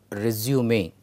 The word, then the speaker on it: résumé: The words are resume and resume. Now, when I pronounce, you can slightly understand the difference.